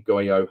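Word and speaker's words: Goiot: Mentioned in my previous videos that I suggest that you don't go for any Goyo hatches or the helm. A company called Goyo, it's spelled G-O-I-O-T.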